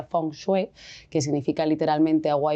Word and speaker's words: feng shui: fengui porque muchas veces la palabra fenguer, bueno, en en chino se pronuncia fongue, que significa literalmente agua